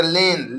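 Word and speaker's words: lane: ले एन से न अंत में ई है तो ई का उच्चारण नहीं करना है तो लेन लेन माने गली लेन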